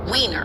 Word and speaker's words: Weiner: I'm like, can you tell me how to pronounce his name? And they said Weiner.